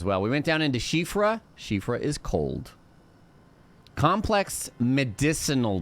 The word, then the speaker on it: Siofra: You always say it's Siofra. That's what I said, and then a lot of people were like, it's actually pronounced Shifra. Mighty dragon. And I was like, okay. Yeah, it's like Irish or something.